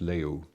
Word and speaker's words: leu: using the Romanian Leo leu is pronounced Leo and the Europe while